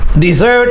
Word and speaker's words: dessert: place on the earth don't be confused with dessert dessert is and so dessert the stress is on the second syllable this word desert the